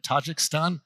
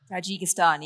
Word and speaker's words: Tajikistan: your doctoral fieldwork was in if I can pronounce it right Tajakhstan. Tajigistan.